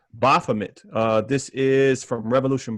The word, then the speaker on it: Baphomet: off tonight tonight uh i always forget how to pronounce this word but i think it's baphomet uh this is from